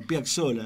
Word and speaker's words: Piazzolla: Es italiano, Piazzolla, 2X. Pizza, no pizza. Pizza, bueno. Y Piazzolla.